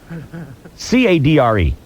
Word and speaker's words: cadre: So I chose an 1.5-inch hose and assembled my, and how do you pronounce this word, Boyer? I'm sorry. Chainsaw? C-A-D-R-E.